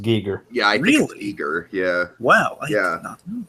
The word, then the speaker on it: Giger: true I saw was like I think it's Gyer isn't it technically it's pronounced technically he prefer to be pronounced Giger yeah I Giger yeah wow I did not